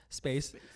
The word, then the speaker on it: Spayse: Yes, it's pronounced Space. Some people say Spacey. Some people say Spazze. What does Ronnie say? Spazze.